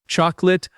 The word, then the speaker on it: chocolate: It looks like it has three syllables, but we say two. Chocolate.